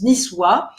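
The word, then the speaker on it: Nizwa: la vie de niçois s'est écrit mena soit sur la carte mais ça se prononce niçois nous allons y aller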